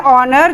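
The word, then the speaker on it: honour: country और और न इसका उच्चारण है ऑनर जो हम जो हमारा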